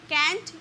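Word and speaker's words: can't: वी कैन नॉट का contraction कांट का भी यूज़ कर सकते हो। कैंट या कांट दोनों इसकी प्रोनाउंसिएशन होती है।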